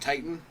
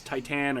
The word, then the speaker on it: Titane: I don't think it's pronounced Titane. I've heard a lot lot this movie. I was looking at it. It's not Titan. It's Titane or Titane.